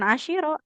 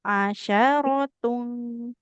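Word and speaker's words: عشرة: Asyar bukan asyiro asyaratun.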